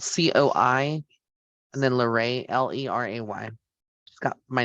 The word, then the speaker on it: Leray: for um I actually like the name it's spelled c-o-i and then larae l-e-r-a-y she's got my name in there larae